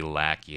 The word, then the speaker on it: Lackey: is it Lackey or Lachi and technically it would be Lackey in the in terms of pronunciation it would be lacking